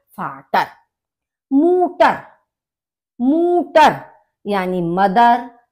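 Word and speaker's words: Mutter: मूटर। मूटर यानी मदर, माँ। क्योंकि यू का जो प्रोनाउंसिएशन है ऊ होता है, तो इसीलिए आपने देखा होगा मूटर यानी कि मदर।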